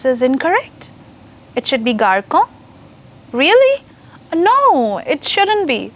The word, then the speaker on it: garçon: Did I pronounce this incorrect? It should be garçon.